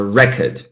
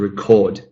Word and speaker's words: record: Noun, a record. Verb, to record.